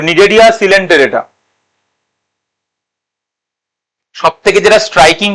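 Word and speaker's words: Cnidaria: এরপরে 2 নম্বর ফাইলাম হচ্ছে নিডেরিয়া। 2 নম্বর ফাইলাম হচ্ছে নিডেরিয়া। নিডেরিয়ার সিটা উচ্চারণ হয় না, আমি আগের দিনই বলেছি।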